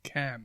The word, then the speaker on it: Cannes: There's several letters in there then that are silent.